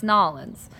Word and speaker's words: New Orleans: I tell you anything, you have to say it right, it's Nolens.